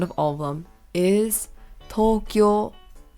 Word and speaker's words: Tokyo: of them is Tokyo a common mispronunciation of the city is that you sound the O's short is that people sound the O's short but that's actually not the case you want to elongate every single o is that is